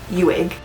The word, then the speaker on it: Uig: And I think I'm still pronouncing this wrong. We asked 4 different people while we were there, how do you say it again? And we would immediately forget. But I'm pretty sure it's Uig. Uig is right near the Fairy Glen.